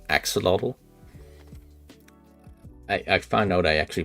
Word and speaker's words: axolotl: I actually had to, I looked it up just to be sure the other day, how to pronounce axolotl.